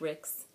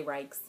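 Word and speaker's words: Ryks: I've heard people say Rikes. I would pronounce R-Y-K-S as Ricks, so I haven't talked to Josh in person to ask him. So if he would like to correct me, he may. I'm going to say Ricks for now.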